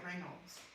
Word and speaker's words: Raynaud's: Yeah, Raynaud's, Oh, is that how you Raynaud's, pronounce it? yeah, Raynaud's.